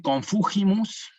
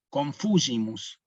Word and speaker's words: confugimus: Entonces acá sería un error decir confugimus, pronunciar la G como nosotros decimos girar, por ejemplo, girar, ¿no? Más bien acá suena como Y y G, confugimus, subtum presidium confugimus, ¿sí?